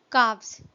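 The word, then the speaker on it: calves: काव्स, यहाँ पे जो लेटर एल है ये साइलेंट है, हम इसको प्रोनाउंस करते हैं काव्स।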